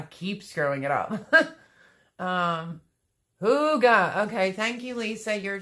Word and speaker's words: hygge: feel terrible i keep screwing it up um hooga okay thank you lisa you're just a bomb